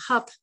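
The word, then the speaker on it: Höfn: met a couple from a town called hup even those pronounced h-o-f are spelled h-o-f-n and when we met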